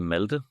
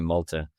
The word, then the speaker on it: Malte: Because I was It's actually Melde. Melt. Melde, Okay. but Melde. that's like only Danish people that pronounce it that way.